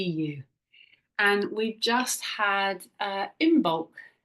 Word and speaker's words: Imbolc: And we've just had Imbolc, or Imbolg as it's pronounced, I believe.